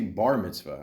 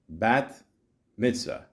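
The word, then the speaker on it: Bat Mitzvah: b b mitvah yeah I've been saying it wrong all these years I would say Bar Mitzvah I don't know why yeah I don't know bat MIT Mah there you go it sound like I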